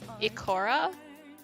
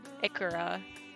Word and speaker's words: Ikara: Also, I prefer to pronounce it Ikora? Ikora? Ikora? I don't know. Now you've got me saying it weird. Ikora. Ikora? I think it's Ikora.